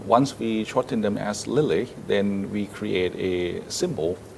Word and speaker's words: LILLE: For that, we try to pronounce as Lily.